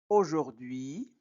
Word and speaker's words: aujourd'hui: les enfants par leur prénom par leur prénom aujourd'hui o a au se prononce o o u se prononce ou ou et u I se prononce oui.